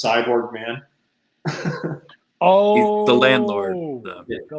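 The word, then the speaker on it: Sy Borgman: It's spelled Cy, and then Borgman is his last name, so it's Cyborg Man.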